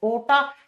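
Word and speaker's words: aorta: उसका नाम होता है एओर्टा ए ओ आर टी ए लेकिन बेटा जब प्रोनाउंस करते हैं तो आर साइलेंट हो जाता है और इसको ओटा या एओर्टा भी लिख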